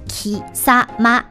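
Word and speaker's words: 貴様: 来，连在一起就是 ki sa ma。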